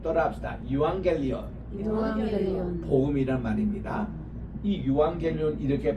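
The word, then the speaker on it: εὐαγγέλιον: 죽음으로 유앙겔리온 할 때게 감마가 감마를 치면은요 앞에가 앙이란 발음이 나와요 유앙겔리온 또합시다 유앙겔리온 유앙겔리온 복음이란 말입니다이 유앙겔리온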